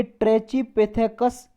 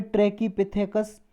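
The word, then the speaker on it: Trachypithecus: यूके में इसे ट्रेचिपिथेकस जेई बोलते हैं, अमेरिका में ट्रैकीपिथेकस या ट्रैकीपिथिकस जी बोलते हैं।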